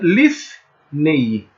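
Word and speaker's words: לִפְנֵי: É um P sem um ponto, ele vai ter som de F. Então, e embaixo dele tem um chevá que é mudo, ok? Esse P tem som de F e embaixo dele um chevá mudo. Portanto, seria lifnei. Lifnei, né? Seria a pronúncia, então, provável de diante de, frente de.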